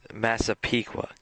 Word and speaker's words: Massapequa: people can hear your reaction to how I pronounce this. Okay. Because there's like, I'm gonna butcher this so bad. Massapequa? Close. It's Massapequa.